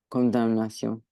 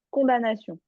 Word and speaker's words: condamnation: Conda- Condamnation. Alors, ce mot-là, il y a un piège. Il s'écrit comme ça, mais il se prononce sans le M. Il se prononce juste condamnation.